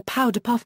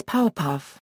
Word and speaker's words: Powerpuff: When the Powerpuff Girls came crashing in, Luthor mispronounced their collective name as the Powderpuff Girls, annoying the Powerpuff Girls and causing them to angrily correct him, "It's Powerpuff. No D."